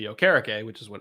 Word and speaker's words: Okereke: Yeah, it's not Okereke. Yeah. Because there was some confusion because he prefers the actual pronunciation to be Okereke, which is what it's supposed to be.